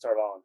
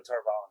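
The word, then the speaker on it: Tar Valon: Yes, Tarvalin. They're pronouncing it a little bit different, I think, but Tarvalin is how I would.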